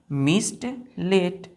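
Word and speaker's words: mistletoe: मिस्ट लेट पढ़ते हैं इसको टी ओ यहां साइलेंट हो जाता है ओ को हम नहीं पढ़ेंगे क्या पढ़ेंगे मिस्ट लेट कस क्यूटा तीसरा वीट रस्ट वीट रस्ट ठीक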